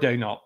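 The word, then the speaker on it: Daigneault: we might have the same one here Mark dnal Oklahom Mark dull as my pick there we go good pronunciation by the way people do not know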